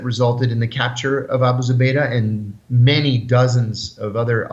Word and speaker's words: Abu Zubaydah: Could you talk about, I'm going to try to say his name right, Abu Zubaydah? Abu Zubaydah.